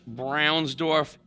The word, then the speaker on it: Braunsdorf: We have Dan Trano uh from Couch Brownsorf Insurance.